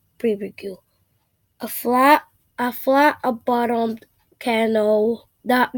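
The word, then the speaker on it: pirogue: Instead, he moves about in a perigue, pronounced perigue.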